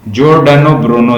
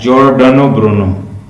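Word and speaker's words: Giordano Bruno: उसका नाम है, इसकी एग्जैक्ट प्रोनाउंसिएशन है, लिख लें, जॉर्डानो ब्रूनो जो है इसका नाम है। ये जैज साउंड ये देता है, जॉर्डानो ब्रूनो।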